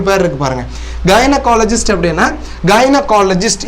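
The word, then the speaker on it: gynaecologist: இருக்கு பாருங்க கைனகாலஜிஸ்ட் அப்படின்னா கைனகாலஜிஸ்ட் இது ஜின்னகால் அப்படி எல்லாம் வாசிச்சிடக்கூடாது இதனுடைய உச்சரிப்பு கைனகாலஜிஸ்ட் கைனகாலஜிஸ்ட் அப்படின்னா இந்த மகப்பேறு மருத்துவர்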